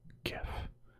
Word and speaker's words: GIF: I pronounce GIF, right? It's like gift without the T. Get like GIF. GIF. It has to be, a J is a whole different sound. GIF, like a G is gift.